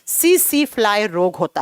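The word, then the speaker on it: tsetse: से लिखा जाता है टी को प्रोनाउंस के समय साइलेंट किया जाता है सी सी फ्लाई सी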